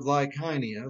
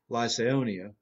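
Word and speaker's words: Lycaonia: the cities of lystra and derby cities of lyconia and i think that's how i looked it up and listened to the pronunciation online that's how you pronounce it like heine although i used to say lyseonia and so they go from antioch east to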